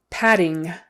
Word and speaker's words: padding: Padding, padding. 2 Ds, it's just a D sound in the middle.